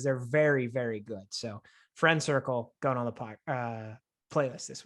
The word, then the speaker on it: FRNDCRCL: Dan, you're going to love the name because it's Friend Circle, but it's spelled FRNDCRCL.